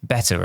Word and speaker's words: B3TR: The star of the show is the new token called B3TR, pronounced better, of course.